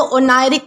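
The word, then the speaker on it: oneiric: अब दोस्तों इसके बाद हमारा अगला वर्ड आता है ओनायरिक। इसे कैसे प्रोनाउंस करना है? इसे आप जो है वो ओनरिक प्रोनाउंस करोगे जिसका मतलब होता है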